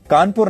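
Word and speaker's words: Cawnpore: जिला घोषित कर दिया हालांकि तब इसे अंग्रेज कानपुर नहीं बल्कि कॉनपुर कहा करते थे यह इसकी स्पेलिंग की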